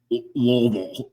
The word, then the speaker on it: Louisville: They just like Louisville? guttural. Like, Marbles in your mouth. Louisville. You gotta say it like you gotta say like you have chaw in your mouth, bro.